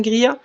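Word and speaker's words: Greer: Grire, ça s'écrit G R E E E R. Je n'ai pas la boîte. Morgan Grear.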